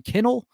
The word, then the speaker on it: Kinel: Ryan Kinnell, like a dog kennel.